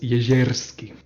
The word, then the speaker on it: Jezierski: And it's pronounced Jezierski.